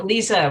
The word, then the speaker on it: Lise: Yeah, Lisa rhymes with visa. Hard to pronounce if you just see it written, but follows the German rules of spelling.